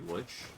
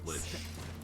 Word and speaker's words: lich: Don't exactly want to be on the wrong end of a lech. Well, not not a long a lich uh vampire rather.